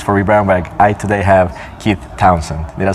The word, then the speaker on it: Keith Townsend: I today have Keith Townsend.